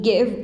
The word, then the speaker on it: give: In give, we have E is not pronounced, coverage, column, N is not pronounced, and more, E is not pronounced.